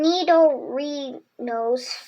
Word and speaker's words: Nidorino: The horn on Nidorino's forehead is made of an extremely hard substance, which, when challenged, its body bristles with poison barbs. How to say it? Nidorino.